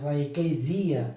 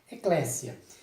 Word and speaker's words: Eclesia: muitos dos brasileiros fazem eclesia ou Eclésia né com z Então esse essa sonoridade com z tá errada tá OK você faz a pronúncia com o som de s Eclésia é interessante que essa